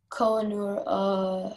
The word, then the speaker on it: Kohinoor: Kohinoor. Can you repeat? Can I have all the information again? Sure. It can be pronounced Kohinoor or Kohinoor.